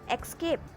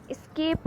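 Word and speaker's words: escape: जी नहीं, इसका pronunciation एस्केप होता है। ओके, एस्केप, ना कि एक्सकेप। यहाँ एक्स का साउंड नहीं आ रहा है, यहाँ एक्स है नहीं, तो हम एक्सकेप नहीं एस्केप कहेंगे।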